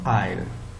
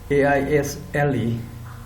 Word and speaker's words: aisle: Come to this one, aisle. A-I-S-L-E is aisle. I-S-L-E is also aisle. Pronounced the same, but meanings are different.